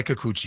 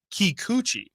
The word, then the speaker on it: Kikuchi: says use there is it says you say you say Okay Kikuchi Kikuchi yes all right you say kooky kind of nailed me coochie